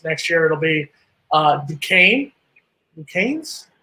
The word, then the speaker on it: Duquesne: next three seasons next year it'll be uh ducane and keynes how how do we pronounce that there mark with school in pittsburgh it's a basketball school there it's pronounced duquesne i don't know what their uh mascot is